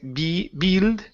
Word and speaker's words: build: So instead of saying build, okay, use a short I. The word is build.